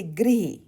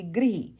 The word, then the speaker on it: गृह: जैसे गृह, हम इसको ग्रह नहीं बोलेंगे, गृह।